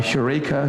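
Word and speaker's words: εὕρηκα: the streets of Athens shouting uh hureka hureka which we um pronounce eureka eureka but it's they didn't miss the rough breathing mark when they when they got it into English.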